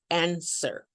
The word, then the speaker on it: answer: Many of students, they pronounce it this way, and then the W is absolutely silent, so we say answer.